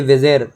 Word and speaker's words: bizarre: ये विजेर, अब विजेर की स्पेलिंग गलत है, BIZARRE, इसका मतलब होता है विचित्र, अनोखा, ठीक है, विचित्र, अनोखा, स्ट्रेंज, कोई अजीब चीज़ है, ये सब।